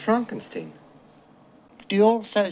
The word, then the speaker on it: Frankenstein: not igor am i yeah dr frankenstein frankenstein you're putting me on no it's pronounced frankenstein do you also say frodrick no frederick well